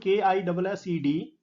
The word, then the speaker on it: kissed: sh or h, then the final ed is pronounced as t and not d. So this word K-I-S-S-E-D, the final sound before ed is s. This word will be pronounced as kissed rather than kissed.